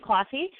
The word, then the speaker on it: Closshey: nailed it perfect Oh awesome so it's Charlene classy calm and it's spelled CH AR le E and E last